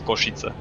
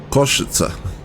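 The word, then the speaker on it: Košice: Also, if we are doing names uh random associations, but the name pronunciation of of the city name that we are going to is Koshita. Koshita.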